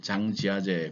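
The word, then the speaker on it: 张家界: 중국식 발음으로는 영국이 아니라 중국식 발음으로는 장가게를 장지하제 그렇게 읽습니다.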